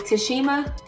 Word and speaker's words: Tashima: My real name is Tashima. It's spelled how it sounds.